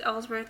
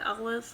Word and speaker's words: Ellsworth: Ambrose is backstage preparing for his match when he gets interviewed, asked about a match, and he mispronounces James Ellsworth as James Ellis, I guess.